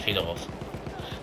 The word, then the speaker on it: Fedorov: Fedorov wahrscheinlich. Ja, russische Aussprache, natürlich Fedorov.